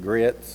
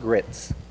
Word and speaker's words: grits: I'm collard greens eating, grits, and it's not grits, it's grits. Yeah. Grits, it's 2 syllables.